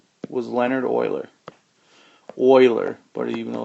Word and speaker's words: Euler: that discovered it his name was leonard euler euler but even though it's spelled with a e and a u there